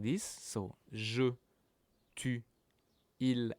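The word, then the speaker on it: ils: Il, elle, pronounced the same as il, elle here, but now there's a s at the end, which means that it's plural, it's for a group, so it's they, okay?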